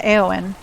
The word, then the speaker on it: Éowyn: film is when, I'm going to say her name wrong. Is it Éowyn? Eowyn. The blonde? Yeah. Yeah, Éowyn.